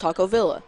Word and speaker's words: Taco Villa: Because in Spanish, two L's together makes the "ya" sound, right? Yeah, right. But supposedly it's pronounced Taco Villa.